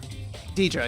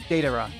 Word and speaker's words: Deidara: Deidre, yeah. Or... Deidre? I forget how to pronounce his name. Deidara? Oh, yeah. Deidara.